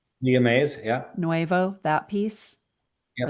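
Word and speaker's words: Zea mays: Is it pronounced Zia Mays? Zia Mays, yeah.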